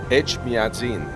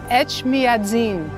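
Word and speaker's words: Etchmiadzin: Echmiadzin. Echmiadzin.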